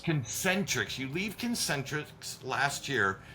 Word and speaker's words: Concentrix: Is that how you pronounce it? Concentrix. Concentrix.